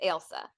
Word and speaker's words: Ailsa: So this is one of those like it's not Elsa like Frozen, it's Ailsa.